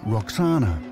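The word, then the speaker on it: Roxana: hint in her name the Greeks pronounced it Roxanna but it may originally have been vakshana which would mean she belonged to the vaksu an ancient name for the oxus river so by marrying vakshana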